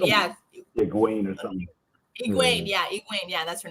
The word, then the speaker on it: Egwene: Egwene, yeah, that's her name. That's why I can't pronounce it, because it's definitely different.